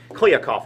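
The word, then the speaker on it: Kliavkoff: came in last week kliakov i believe is how you pronounce his last name george kuyakov and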